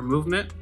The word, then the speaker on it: MVMT: That would be MVMT or movement, depending on how you say it. yeah. I get the brand, it's like MVMT, but I think it's short for movement.